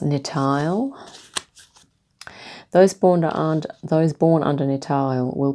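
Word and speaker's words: Nithael: So this is pronounced Nitael.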